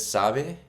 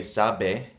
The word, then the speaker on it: sabe: You can tell when I said sabe, I didn't say sabe, like b. So the B and the D are, especially when they're kind of sandwiched between two vowels, they're pronounced softly. Sabe. You're almost barely connecting your lips.